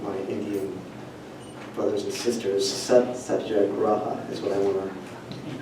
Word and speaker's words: Satyagraha: Satyagraha is what I want to... How do I pronounce this? Yeah, Satyagraha.